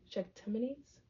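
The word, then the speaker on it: Shachtmanites: The ch sound is similar to the ch in church, and the ite is the pronounced like ite in elite. Oh, elite. Eat. Shaktmanites.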